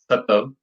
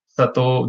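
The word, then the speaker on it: Sattva: For instance, the one on the left hand side, Satav, Sato, there are different ways these are pronounced.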